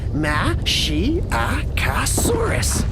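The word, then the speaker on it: Masiakasaurus: You say it like this, Mashiacosaurus.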